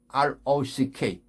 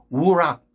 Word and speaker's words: rock: 우락, 우락. 절대로 아닙니다. 큰일 납니다. 이 영어 발음 다 이거 잘못되게 만드는 원흉이 그거예요. 바위 하면 R 발음은 그냥 rock, rock, rock, rock, R 발음 더 가야 돼요.